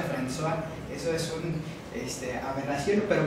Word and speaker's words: François: Francois se escribe, pero se pronuncia François.